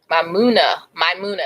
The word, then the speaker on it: Maimuna: Maimuna, that's how you pronounce the name.